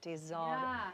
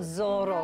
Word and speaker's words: tesoro: Tesoro, it's tesoro, not Zorro.